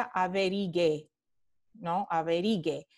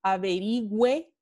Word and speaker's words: averigüe: esta se pronuncia averiguar si yo quito la diéresis aquí se pronunciaría a ver y que abrigue entonces para pronunciarla y averigüe averigüe tenemos que poner la diéresis de nuevo siempre para